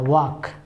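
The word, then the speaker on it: walk: टहलना का क्या होता है, वॉक, WAL के यल को खा जाते हैं, मतलब साइलेंट में रखते हैं, वॉक, इसमें ING लगाइए, वॉकिंग, और सड़क पर, ऑन द रोड।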